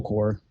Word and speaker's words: Corps: Apple Computers reaches an agreement with Apple Corps, which is spelled like the Marine Corps, right?